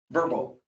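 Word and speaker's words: Vrbo: Airbnb, how do you say it? Verbal, yeah. Verbo.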